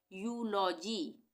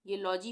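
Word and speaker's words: eulogy: यहाँ पे क्या पढ़ेंगे हम इसको, यूलॉजी, ये लॉजी हो गया, ये यू हो गया, ई को EUG नहीं पढ़ेंगे, यूलॉजी ही पढ़ेंगे इसको।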